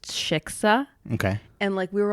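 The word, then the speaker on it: Xixa: It's pronounced shiksa.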